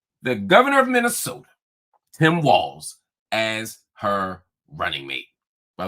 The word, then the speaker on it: Walz: governor of Minnesota Tim Walls as her running mate by the way it's pronounced walls not Waltz walls Harris introduced walls